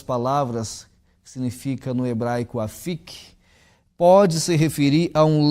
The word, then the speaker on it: afik: Essa palavra no idioma original do Velho Testamento, hebraico, ela é pronunciada afik.